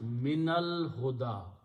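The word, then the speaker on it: من الهدى: Min al-huda, but when you read together, you change this to a fatah for reading purpose, and you pronounce min al-huda. That's the word in the Quran. Alif is not pronounced, it becomes hamzatul wasl.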